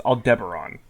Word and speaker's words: Aldebaran: Apparently this is pronounced. I learned recently it's Aldebaran.